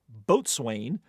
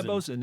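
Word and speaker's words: boatswain: the ungainly nine-letter word which land lers mispronounce as boat Swain or what rather economical felet word that is pronounced the correct way I usually get it wrong I'm gonna say it wrong it's is it bosen or bosin BOS yeah bosen is fine but you don't want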